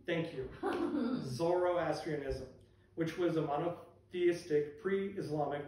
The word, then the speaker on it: Zoroastrianism: Zoroastrianism? Thank you. Zoroastrianism, which was a monotheistic pre-Islamic religion from ancient Persia dated in 6th century BC.